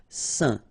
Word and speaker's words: saint: Okay, combination of A, I, N, phonetically will give you this un pronunciation. Saint.